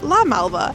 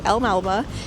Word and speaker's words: El Malba: you will know that when I first went to El Malba, I pronounced it as La Malba and I was roasted publicly. So, we are going to go to El Malba and see if they